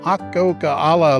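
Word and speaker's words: Akokala: area there's also a more moderate hike to ah coca a la Lake that's how you pronounce it it's only eleven point six very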